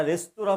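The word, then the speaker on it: restaurant: ইউটি বাট উচ্চারণ করি ফরাসি ভাষায় আমরা রেস্টুরেন্ট শব্দের বানানের শেষে এনটি থাকলেও দেখব যে তারা এনটি উচ্চারণ করছেন না তারা রেস্তরা পর্যন্ত এসে থেমে যাচ্ছেন জাপানি ভাষায় যেটাকে টি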